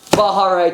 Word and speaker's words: Baja Rey: another video this time what is it again bahare 2.0 exactly for F100 body with the Eisenhower